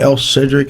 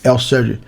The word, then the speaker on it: Elcferdick: Oh, the F is silent.